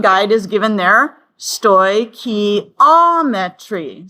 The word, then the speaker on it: stoichiometry: And you'll notice the pronunciation guide is given there. Stoichiometry. Stoichiometry.